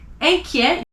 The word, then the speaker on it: inquiet: Inquiet, at the end of the word, you don't pronounce it.